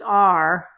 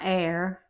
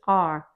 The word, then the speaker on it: R: It's just R. It's not air, it's R. But it's more like star and car with no E.